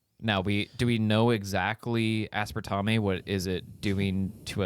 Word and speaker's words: aspartame: Just think about how it's spelled. Yeah, but Tame. That doesn't help. But like when you see spelled Tame. tame that dog, Tame. you see Tame the dog T-A-I-M. because it's the same spelling.